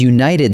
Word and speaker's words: united: A united team also takes a because united starts with a y sound, like you.